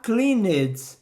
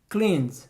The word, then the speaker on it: cleaned: Pois é, acontece que muitas vezes a gente não pronuncia esse E. Você não vai falar cleaned, cleaned, e sim cleaned, cleaned.